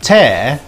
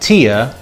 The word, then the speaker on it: tear: created thanks to homographs the word tear and tear are not the same even if they're spelt the same way one means to pull something apart by force and one is the salty liquid that comes out of your eye when you cry but here we have